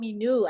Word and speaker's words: Minu: Oh, Minu. I've been saying Mino all this time.